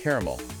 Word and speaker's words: caramel: And the classic caramel, two syllables versus caramel, three syllables.